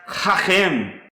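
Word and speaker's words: חכם: The next Hebrew word I want to show you is pronounced Hachem, and it means to be wise. Wise. This is the Hebrew word Hachem.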